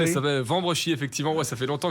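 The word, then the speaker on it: Wambrechies: Voilà, vous êtes né dans le nord euh à Vambréchi, c'est ça ? Wouh ! Vous avez tenté de le prononcer. Il s'appelle Vambrechi effectivement.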